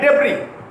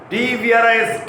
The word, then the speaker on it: debris: Like debris, D-E-B-R-I-S, debris. Debris means ruins. Scattered debris, D-E-B-R-I-S. S is not pronounced.